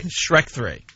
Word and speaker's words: Shrek: Shrek 3. Shrek 3? See? He goes, Shrek. All right, now say it on your own. Ooh, Shrek 3?